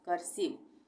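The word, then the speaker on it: cursive: यहाँ पे इसका उच्चारण ई हो जाएगा, आई नहीं होगा, कर्सिव।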